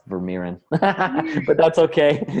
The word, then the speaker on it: Vermeeren: what you really need to succeed now myrin the author of personal power mastery any final thoughts for our audience well I guess - one last name is pronounced ver Miran but that's okay it's cool everybody gets it